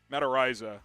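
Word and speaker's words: Matt Araiza: yes menser says yes yes draft mata raza mataraiza is the official pronunciation 81 saying yes coop let's get the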